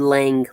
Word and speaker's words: Lang: I said Lang, g. The G is there, sir. You gotta pronunciate.